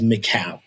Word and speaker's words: Mikal: And also just it's a the proper pronounce is is Macau. Oh, I'm sorry. I'm sorry. Macau.